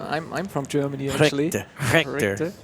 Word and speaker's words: Richter: Richter. It's a hard Richer. I like Richer as well. Yeah, Richer's fine.